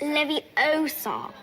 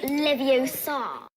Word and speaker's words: Leviosa: take someone's eye besides you're saying it wrong it's levy Oh Saab not Livio saw oh come to see